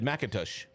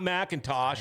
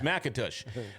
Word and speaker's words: McIntosh: said McIntosh. That's how you say it. I used to live in Fosston. That's why I'd Right. say I said- Macintosh. It's not Macintosh. It's Macintosh.